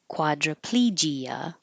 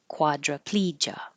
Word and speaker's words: quadriplegia: And the same here with quadriplegia or quadriplegia.